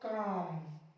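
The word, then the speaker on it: calm: तो देखो यहां एम, एम से पहले आया एल, इसको पढ़ेंगे हम लोग काम, ऐसे ही बाम, इसको पढ़ेंगे पाम, शाम, इसको शाम पढ़ेंगे।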